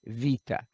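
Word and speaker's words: βήτα: ah second letter is vita that's a b obviously our english b but it's wait a minute let's go back to b b it's pronounced like a v vita okay third letter coming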